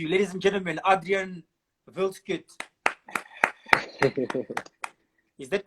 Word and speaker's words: Wildschutt: no, usually they like it is Wildschutt, but some people just like go with the like wild shoot or whatever, but I'm fine with either way.